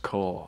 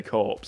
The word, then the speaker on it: Corps: it why is it spelt corpse or it's pronounced core i always found that could be i used to always say corpse until someone like pulled me up my name